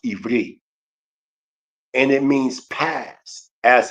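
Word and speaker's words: עברי: When you say Hebrew, we know that the word Hebrew is pronounced Ivri, and it means past, as an ancient.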